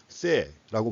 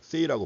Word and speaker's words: Say: 원래 이제 프랑스어 발음으로 하면 세라고 발음하는데 영어식으로 얘기하니까 세이라고 발음합니다.